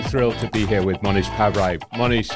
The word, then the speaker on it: Mohnish Pabrai: How did you pronounce it? Mohnish Pabrai.